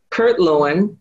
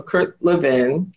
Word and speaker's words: Kurt Lewin: at the berlin school kurt lewin or kurt levin however you want to pronounce it was there testing his